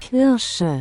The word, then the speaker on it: Kirsche: Yeah, so anyway, that's him crashing out again about me and about Kirsche, specifically, or as I like to call her, Kirsche. because I actually care about pronouncing her name correctly, unlike everybody else.